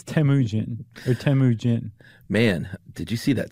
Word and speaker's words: Temujin: It's Temujin.